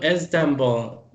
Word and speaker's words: Istanbul: been to Istanbul to Istanbul the eye is not pronounced Istanbul okay thank you nervously thank